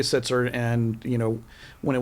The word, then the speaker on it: Sitzer: pronounce it szer Bernett it's sitzer it was originally sitzer and you know when